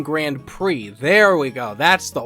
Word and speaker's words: Grand Prix: p1 grande PE visit no it's not P I am saying it wrong that's why it doesn't feel right basically the fight tournament building it's p1 grand prix there we go that's